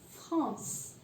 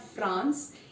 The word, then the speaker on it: France: France. It's not France. In English it's France, but in French it's France.